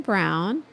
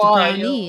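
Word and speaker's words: Browne: sorry yes Brandon brown but it's not pronounced brownie is it it could be brownie it's just Brandon brown with an an e okay is that like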